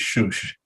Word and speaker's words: Susa: well i call it susa but i'm told that the iranian way to pronounce it is shush um they were there